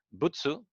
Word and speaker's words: 仏: Butsu es Buda. Es la pronunciación japonesa de Buda.